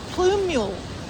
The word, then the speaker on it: plumule: thing that I wrote, I had to look up how to pronounce plumule. Which I’m still not entirely sure I'm pronouncing correctly. It's plume-yule.